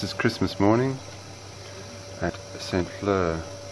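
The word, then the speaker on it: Saint-Flour: Fleur, I think it is. Spelt flower, pronounced Fleur.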